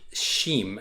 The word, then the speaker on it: XIM: here we have a sheem so the sheen token is they right here this sheen the x is pronounced like an sh kind of the shim token is